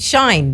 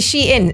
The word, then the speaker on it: Shein: So in the UK we call it Shine, but it's actually Shein.